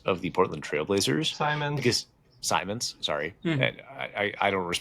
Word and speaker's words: Simons: Um it would be Anthony Simmons of the Portland Trailblazers. Simons.